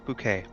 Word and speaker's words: Bucket: my name is bouquet welcome so glad that you've got interest in b u c k e t it's spelled like bucket I know um High bouquet